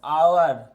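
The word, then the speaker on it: hour: तीन का answer dash आवर एच है कंसोनेंट है लेटर हम इसमें ए लगा देते हैं लगा देते हैं लगा दे क्यों नहीं लगेगा इसमें ए क्योंकि इसका उच्चारण स्थान जो है स्वर से आता है इसीलिए इसमें एन लगेगा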